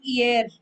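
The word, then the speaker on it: hier: instead of writing today so you write year this is pronounced as year year means yesterday okay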